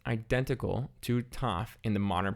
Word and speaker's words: Tet: Tet is pronounced identical to Taf in the modern pronunciation, just with a normal T sound. However, in biblical, it's actually a pharyngalized T, Ta.